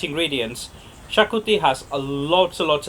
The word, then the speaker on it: Xacuti: the first things first how to pronounce the name it's shakuti or chagoti what good exactly not right so shakuti or chagoti both good so today really spice